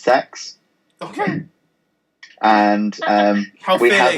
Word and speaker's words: CeX: I work for is called CeX like the letters but it's pronounced sex okay and um we